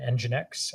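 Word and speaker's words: nginx: an ngx uh proxy an engine X I think is how you say that um and then uh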